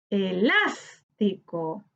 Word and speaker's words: Elástico: Elástico, elástico. En las encontramos la sílaba tónica, que corresponde a la antepenúltima sílaba.